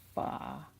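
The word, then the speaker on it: phở: and then last night we got Vietnamese some foie which is spelled pho so you might actually know it better as pho but technically it's pronounced ba so we got and it's just basically like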